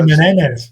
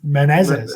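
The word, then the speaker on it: Menezes: Menendez sorry menz yeah you said you always say Menendez but it's just menzes yeah I can't get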